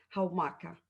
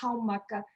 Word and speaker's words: Haumaka: nombre del regreso de Jaumaca o Jaumaca. Cuéntanos. Ujú. Sí, en español no se pronuncia la H, pero por lo que comprendo en Rapa Nui sí se pronuncia, entonces sería Haumaka.